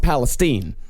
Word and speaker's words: Palestine: In fact, in Texas, it's pronounced Palestine.